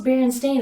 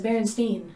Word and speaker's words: Berenstain: spelled like this now berenstain literally stain the word stain is at the end of the name so and everyone says berenstein bears yeah you would not pronounce berenstain as berenstein no so that one just